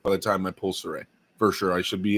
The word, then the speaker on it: Cire: Saray is spelled Cire. People say Siri and stuff. I'm pretty sure it's pronounced Saray.